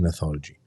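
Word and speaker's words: Gnathology: Hub Hub of neology neology with a g g is silent G neology and neologist were had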